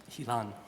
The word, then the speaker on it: Hilan: I believe that Hilan, is that the way it's pronounced, Hilan? Hilan.